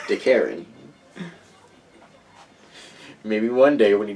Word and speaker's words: DeKarrin: You keep purposely mispronouncing his name. Listen, as long as he keeps ruining my fun, I'm gonna keep calling him a Karen. DeKarrin.